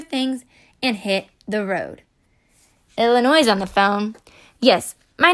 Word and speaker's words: Illinois: and hit the road Illinois's on the phone yes my name is Illinois and I need one airline ticket to UM well Illinois hmm no the S is silent Colorado's walking up the